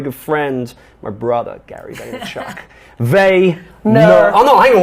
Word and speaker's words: Vaynerchuk: I'm sitting down with my very good friend, my brother, Gary Vaynerchuk. No. Oh no, hang on. What is this? Vaynerchuk. Right, no C. Before the K.